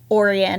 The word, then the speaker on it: Orion: Oh, actually, I know Orion, and he pronounces it Orion.